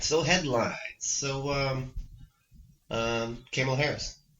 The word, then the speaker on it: Kamala: So, Kamala Harris. Kamala, that's what I was thinking to say when I said what I was thinking. You're disrespectful. Kamala. Yeah, you think of it like the actual comma.